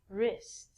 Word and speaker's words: wrist: rest of your arm so the w again is silent okay moving right along